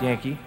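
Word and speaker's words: Janke: J-A-N-K-E, pronounced Yankee, is a familiar form of the Dutch name Jan, just as Johnny is the familiar form of John.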